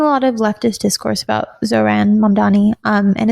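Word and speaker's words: Zohran: One of those little things is getting someone like Zofran. Is that how you say it? Zofan. Zoran.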